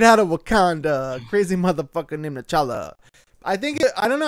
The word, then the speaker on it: T'Challa: Isn't it like it's like T'Challa or like N'Challa? It's like something with like an apostrophe and then it's like ba. It rhymes with Coachella.